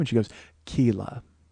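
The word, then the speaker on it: Keila: uh her name was Kila but I called her Kayla because it was k-e-i-l-a so I assumed it was a long e but I should know it was like Sheila Kayla but I said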